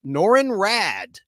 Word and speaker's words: Norrin Radd: Originally a young astronomer named Norrin Radd, and his last name is spelled with 2 D's. Double D's, R-A-D-D, Norrin, N-O-R-R-I-N, R-A-D-D, Norrin Radd, on the planet Zenla.